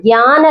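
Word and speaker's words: ज्ञान: இது ஸ்பெல்லிங் பாத்தீங்கன்னா JNANA இருக்கும், ஆனா அது சான்ஸ்கிரிட் வேர்டுங்கிறதுனால அதை எப்படி ப்ரொனவுன்ஸ் பண்ணணும்னா ஞான லட்சண, ஞானம், ஞான் அப்படின்னு சொல்லுவாங்க, அதாவது ஞானம் அப்படின்னு ஞாபகம் வச்சுக்கோங்க.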